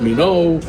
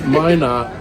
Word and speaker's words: Minot: pronouncing I'm cor up Mino Mina but it's Min not North Dakota and I'm